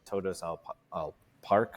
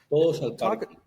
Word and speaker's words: Todos al Parque: I'm probably going to say it wrong on Todos al Park, or is that? Todos al Parque. Oh, okay, pretty close.